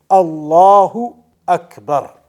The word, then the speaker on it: Allahu Akbar: So the point is that you have to make sure that you are pronouncing it properly. Allahu Akbar.